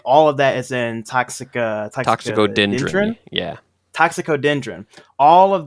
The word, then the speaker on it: Toxicodendron: Toxicorigin, actually, I'm definitely saying the Latin name wrong. Toxicodendron.